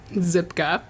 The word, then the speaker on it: Szczypka: and soon to be new County Administrator zipka thank you for helping us understand the pronunciation I wanted to make sure that I